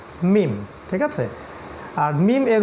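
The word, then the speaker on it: ميم: সেকেন্ডটা শিখেছিলাম সেটা হল মিম। মিম। এটা ঠোটের একটু বাইরের পার্ট থেকে উচ্চারণ করতে হবে। মিম।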